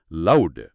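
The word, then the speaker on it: loved: లవ్ అనే పదం వి శబ్దంతో ముగుస్తుంది. వి అన్నప్పుడు గొంతు కంపిస్తుంది, కాబట్టి అది వాయిస్డ్, అందుకే దాని ఉచ్చారణ లౌడ్.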